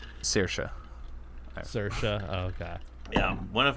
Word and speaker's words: Saoirse: I never know how to pronounce that name. Saoirse.